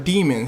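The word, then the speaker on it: Demons: in they say Mr demon he said it's pronounced demon his last name is demon d e m o NS do with that information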